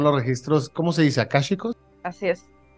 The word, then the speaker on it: akáshicos: Claro que son los registros Cómo se dice akásicos así es y y arcaicos es otra cosa o es otra forma de decirlo Sí sí es es otra cosa okay el término es registros akásicos los registros akásicos rosa si nos pudieras explicar un poquito De